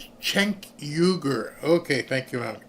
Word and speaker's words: Cenk Uygur: Pronounced Cenk Uygur. Okay, thank you, Mom. Cenk Uygur.